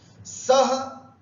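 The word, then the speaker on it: सः: सह उच्चारण करते समय विसर्ग है, सह, तौ, ते, त्वम, ये ध्यान रखना।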